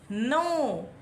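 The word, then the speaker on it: know: रहेंगे going going S नो क्यों कैसे में साइलेंट है और इसका मीनिंग नो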